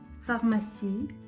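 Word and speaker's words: pharmacie: директор ф фасіль легко фармасій аптека тут вони написали F до Farmasi так само до аптеки Хоча вона починається з pH тому що читається воно так само як F далі виграти гех Вій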